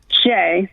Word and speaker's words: Shae: really pronounce my name so jay sounds like s-h-a-y and my background before